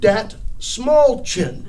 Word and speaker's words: Dastmalchian: And so we met that night, and he told me it's David Dastmalchian.